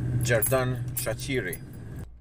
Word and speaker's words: Xherdan Shaqiri: saying his name wrong here's how you say it it's Jared Dan shot cheery I think that's how it is let's listen to this guy knows Jeff Dunn a cheery cheery there you go